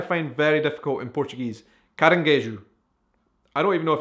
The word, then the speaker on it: caranguejo: It's the type of crab that you eat, and that's how you say it, caranguejo.